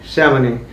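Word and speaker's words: Chamonix: ये जो है इसकी करेक्ट प्रोनाउंसिएशन है शैमनी।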